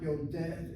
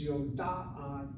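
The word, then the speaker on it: יודעת: It's not Yodet, it's Yoda'at, Yoda'at. Yodet, again, the accent is on a sego, short vowel, open syllable.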